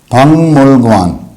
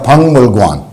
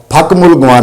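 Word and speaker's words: 박물관: और फकमुल गुआन नहीं, फंगमुल गुआन, फंगमुल गुआन।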